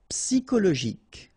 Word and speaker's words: psychologique: Okay, remember at the end you've got this K. Okay, so I-C and then Y is pronounced like I. Psi. And then it's an exception here because normally we should pronounce it Show, okay, but then we pronounce it co.